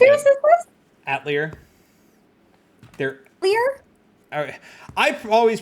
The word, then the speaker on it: Atelier: Actually sounds like a French word, Atelier.